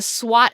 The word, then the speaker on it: SWOT: So we are going to talk about using a tool called the SWOT analysis, which may sound like swat a fly, but it's not spelled the same.